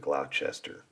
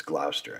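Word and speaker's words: Gloucester: it or is it Glouchester it's not it's Glouster I believe it's like it's like Lester you know when when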